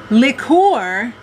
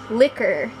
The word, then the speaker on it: liqueur: Liqueur is an alcoholic drink. That's pronounced liquor. No, that's liqueur.